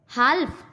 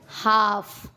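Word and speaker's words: half: काफ, हाल्फ, नहीं नहीं नहीं, हाफ।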